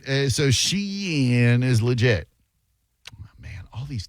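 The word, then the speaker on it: Shein: That's how you say it. Sheen. Like sheen.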